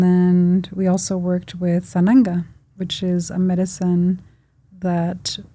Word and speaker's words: Sananga: Sananga?